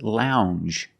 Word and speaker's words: lounge: And this word is lounge. Lounge. It makes the regular n, plus the j. Lounge. It follows the same pattern as orange and change. J. It's a regular n, plus the soft j sound.